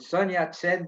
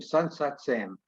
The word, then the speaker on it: Sun Yat-sen: Chiang Kai-shek, to many American soldiers, became Shanker Jack. And Mao Zedong became Moose Dung. And Sun Yat-sen became Sun Sat-sam.